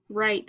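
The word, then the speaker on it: write: Word is right. We have that silent W at the beginning.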